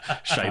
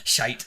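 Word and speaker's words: Schiit: Probably a shite one. that's how you pronounce that. Shite audio. Shite.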